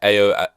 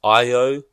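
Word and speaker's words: Ayo: Like Jeremy Allen White, Ao. Wait, no, it's Io.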